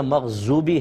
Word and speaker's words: مغضوب: دیکھیں ضاد ہے، مغضوب، بو اس طرح ادا کرنا ہے، زو ادا نہیں کرنا ہے، کیونکہ وا کا تلفظ زوئے جس کو ہم کہتے ہیں وہ علیحدہ ہے، ذال علیحدہ ہے، زا علیحدہ ہے، بود کے اندر دال کی سی آواز نکلتی ہے لیکن پر آواز نکلتی ہے موٹی، مغبوبی، ضالین.